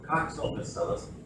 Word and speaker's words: Coccobacillus: First C is pronounced hard, second C is pronounced hard, third C pronounced like an S, Coccobacillus.